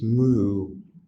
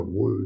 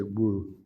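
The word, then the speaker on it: 無: And they always use the Japanese mu, which is an old, it's a Chinese pronunciation from like 1200 or something. The Chinese go wu now. But once the Chinese do it, just say wu.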